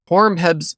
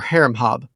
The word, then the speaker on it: Horemheb: Horemheb's Egyptian name was approximately HRMHB, conventionally vocalized Horemheb or Haremhab.